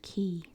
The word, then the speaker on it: quay: dine on the Columbia Oh pronounced key the key key the